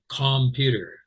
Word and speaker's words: computer: Computer. No, I didn't say that either. I said computer. Computer. Wow, that's clearly not a not a clear O vowel. That's the schwa.